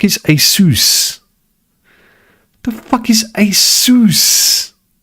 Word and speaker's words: Asus: The fuck is Asus? Asus. Asus. It's like Asus rhymes with masseuse. No.